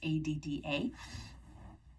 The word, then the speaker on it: Ada: I'm not quite sure how to pronounce that. It's Adda.